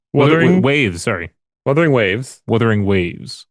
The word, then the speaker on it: Wuthering Waves: Wuthering Waves, Wuthering Waves. which Jeff Keighley continued to pronounce as Werthering Waves, Oh, well, oh.